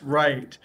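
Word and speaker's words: write: okay we know with right the w is silent it's just right okay very good let's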